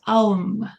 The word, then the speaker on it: Om: She starts every meditation by breathing and saying Om, or it's pronounced Aum, 3 times, very slowly.